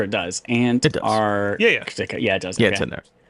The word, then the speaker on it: Antarctica: It's Antarctica. It is, yeah. The sea is silent unless you're talking about the Arctic Sea or the general Arctic region.